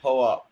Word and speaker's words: POAP: You gotta pronounce it POAP, bro. That's a good idea, actually. The POAP protocol. It's the POAP protocol. It's not the poop protocol.